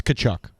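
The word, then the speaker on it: Tkachuk: you started with two different two different letters pronounce it I don't know it's kachuk there we go it sounds like it sounds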